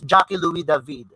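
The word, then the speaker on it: Jacques-Louis David: louis david okay pronouncing because he is a french painter and that is how it is being pronounced it's jackie louis david it's the neopla it's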